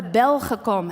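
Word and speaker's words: Belgacom: ever heard of the Bell huh comb hack I'm pronouncing it in the Dutch way there's one person so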